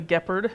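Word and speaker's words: Gepard: one as well the gephard because I couldn't say it right so I had to rhyme with leopard because I didn't think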